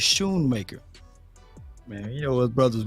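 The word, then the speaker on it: Schoonmaker: it show it's true it's Shoemaker that c is silent I appreciate you Sanjay so he's Shoon maker man you know us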